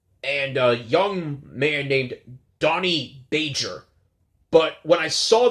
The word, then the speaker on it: Donny: thought for sure that it was danny like d-a-n-n-y as the most common spelling for danny but no it's donny as in d-o-n donny if you're watching this